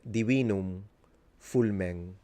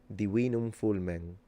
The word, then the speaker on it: Divinum Fulmen: Your correct pronunciation of your name, Divinum Fulmen. You would have to nasalize the M and N at the end. Divinum Fulmen.